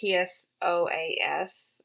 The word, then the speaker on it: psoas: sometimes it's referred to as a psoas muscle it's spelled psoas for you sciency nerds out there if my